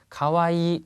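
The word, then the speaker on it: かわいい: 다음에 가와이. 자, 이 하지 않고요. 가와이를 길게 발음합니다. 가와이 이렇게요.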